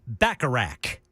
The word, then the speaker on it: Bacharach: Burt Bacharach. Bacharach. See, I always want to – is that the same pronunciation as the casino game that James Bond always played? That was Baccarat.